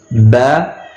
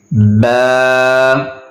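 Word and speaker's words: باء: Alif, Alif, Ba, Ba. So this is the letter which I told you before starting the lesson, which we have to pronounce from the lips.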